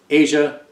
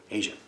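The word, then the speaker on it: Aja: the material that 250 asia asia like the country asia well not the country the continent asia that's how it's pronounced asia limited amount of songs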